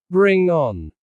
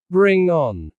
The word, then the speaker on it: bring on: Native speakers stress the second word strongly. Bring on. Say it with energy. Bring on.